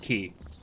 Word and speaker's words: quay: And yes, I know it's pronounced key.